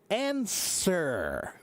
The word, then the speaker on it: answer: Everybody when they see the word answer, it's pronounced answer, but it looks like it should be an everybody goes, "Why is it ansur?